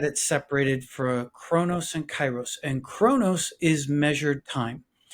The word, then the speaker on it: Kairos: Kronos time and is it how do you pronounce it chyros you said chyros very well yes yes and Kronos time what's